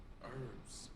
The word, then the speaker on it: herbs: herbs and spices like i think you say herbs herbs herbs herbs herbs it's a herbs and herbs i'm pretty sure the h is silent but i could but i'm also a dumb ass though herbs no you're right it's herbs you're right herbs herbs and spices herbs